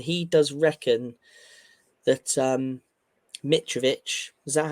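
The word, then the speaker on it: Mitrović: United um and he does reckon that um mitovich is that how you pronounce his name yep that is MIT he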